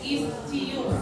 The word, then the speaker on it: ischium: Tulang duduk os ischium. Ini tetap C dibaca C. Ischium. Tulang kemaluan os pubis. Ya, yang ischium, tulang duduknya tetap ischium sesuai dengan tulisannya. Ischium.